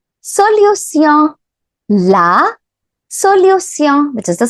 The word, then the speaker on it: solution: But how do we pronounce this T-I-O-N? There's a small trick. You can pronounce this T-I-O-N as sillon. Sillon. Okay, so hence we say la solution.